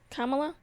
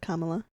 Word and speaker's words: Kamala: Kamala has been asking is that Kamala I think they pronounced it Kamala Kamala yeah I think her team